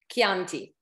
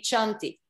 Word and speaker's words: Chianti: pronounce just think of chianti if it were not for h it would be chanti yeah okay so it